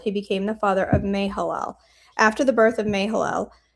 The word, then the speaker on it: Mahalalel: I missed a constant syllable. It's Mahalalel.